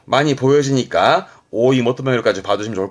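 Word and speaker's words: 追い求める: 이때 발음은요. 오이모토메루 합니다.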